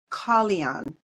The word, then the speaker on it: Kalyan: Okay, I'm so glad that you corrected me on the pronunciation, because it's such a beautiful name. So I'm going to try it again. It's Kalyan.